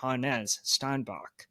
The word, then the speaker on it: Hannes Steinbach: I guess we've been saying his name wrong. Oh. Yeah. Well, you need to tell me next time you go to a Husky basketball game, but on the broadcast, they're saying Hannes Steinbach.